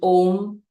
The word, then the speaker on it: Om: voice box right so when you chant om you inhale and as you exhale you chant with the three syllables that come together a o m a o is recited in the first half of your exhalation and the second half is M and when you say